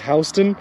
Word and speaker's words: Houston: Georgia has a county called Houston, but we pronounce it as Houston.